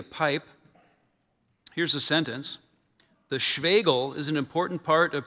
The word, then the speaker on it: Schwegel: The Schwegel is an important part of traditional Bavarian folk music, usually played alongside the tabor drum.